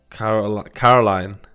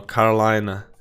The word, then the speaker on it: Carolina: Caroline. No, Carolina.